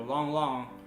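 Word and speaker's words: Lang Lang: the world famous pianist lan lan or long long to pronounce it correctly is actually manchu a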